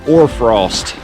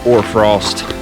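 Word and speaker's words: hoarfrost: see a few those it's called or Frost silent H some people call them frost flowers but the proper term is or Frost pretty cool there she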